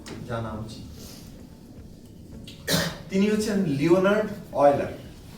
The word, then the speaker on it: Euler: তিনি হচ্ছেন Leonard অয়লার। কি নাম? Leonard অয়লার। অদ্ভুত তার মানে বানানটা EULER, লিওনার্ড অয়লার।